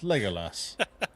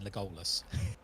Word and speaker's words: Legolas: make it say Legolas I found how to pronounce it it's Legolas so I was right Legolas Legolas no I was wrong I keep saying legus I I grew up I mean I read